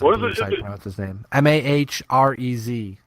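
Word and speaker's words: Mahrez: Mara I just am Marez mah are easy my res is how you say his name he's also been fantastic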